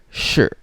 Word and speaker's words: 是: h i for tone sure but remember we don't need to read the letter i at the last part of this word so it's just pronounced as sure now the meaning of